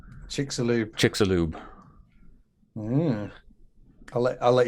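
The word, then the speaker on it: Chicxulub: i'm sorry i got i was corrected it's chicks a lube chick salute chick's a lube i'll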